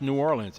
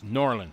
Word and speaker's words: New Orleans: there nor Orleans norleans it's not pronounced New Orleans it's norleans I was I was